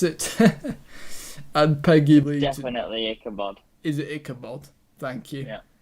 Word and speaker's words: Ichabod: there we go yeah ichabod or however you pronounce it and peggy definitely ichabod is it ichabod thank you and then obviously